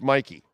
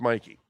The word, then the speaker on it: Mikey: So it's Mikey. So I got to call. So I've been calling him Mickey, and it's Mikey.